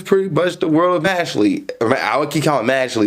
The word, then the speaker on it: Mashle: Well, this is pretty much the world of Mashle. I would keep calling it Mashle. It was Mashle because it's spelled Mashle, but it's not Mashle, but Mashle.